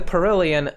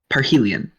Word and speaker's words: Parhelion: Yohane the Perillian. By the way, how is that word pronounced? Let me just... Parhelion. It is Yohane the Parhelion. So we've been pronouncing this word incorrectly the entire time, yes.